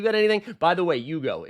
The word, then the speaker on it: Hugo: By the way, Yugo, it's not Hugo. It's not The H is silent.